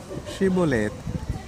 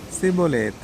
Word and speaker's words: Shibboleth: When he said no, they said to him, Then say, Shibboleth. And he said, Sibboleth, for he could not pronounce it right.